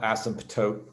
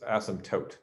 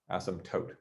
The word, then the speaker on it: asymptote: is silent it's not asymptote and the last syllable is tote like a tote bag like totally awesome totes mcgoats not taupe like isotope that's asymptote asymptote say asymptote so an